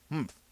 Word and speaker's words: humph: "Humph," said the sand fairy. If you're reading this story aloud, please pronounce humph exactly as it is spelt, for that is how he said it.